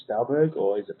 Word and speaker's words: Stahlberg: say your right name right the last name stelberg or is it pronounced a different way or yeah now in